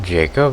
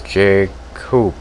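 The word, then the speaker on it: Jacopo: how terrifying they were is his name not Jacob it's Jake coop I've been mispronouncing his name I know but Jack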